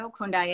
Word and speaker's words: Okundaye: Well, as you said, my name is Dr. Okundaye, and you said it right.